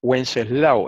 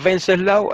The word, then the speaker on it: Wenceslao: Y en español suena U. ¿Eh? Por ejemplo, hay personas que se llaman Wenceslao, eso es español. Wenceslao. Los alemanes la pronuncian Wenceslao, eso es problema de los alemanes. Nosotros no somos alemanes. En español se dice Wenceslao.